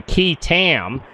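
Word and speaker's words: qui tam: I'm going to tell you what, you guys could be entitled to one hell of an award under what's called a key tam. That's spelled Q-U-I-T-A-M.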